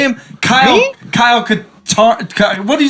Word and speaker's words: Katarn: Kyle Katarn. What did you say him? Darth Mao. Kyle Katarn. What'd you name him? I make stuff Catan.